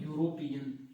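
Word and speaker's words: European: अब आप बोलोगे साहब इसके अंदर वोवेल साउंड आ रहा है, ई का प्रयोग हो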